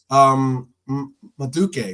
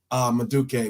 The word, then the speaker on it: Madueke: So Maduke, right? That's how you pronounce his name, right? Madueke.